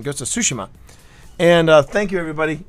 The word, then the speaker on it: Tsushima: I learned the proper pronunciation, Ghost of Tsushima.